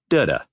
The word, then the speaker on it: dudda: Put them together with the emphasis on the first syllable, and you have dudda, or dudda. Great job!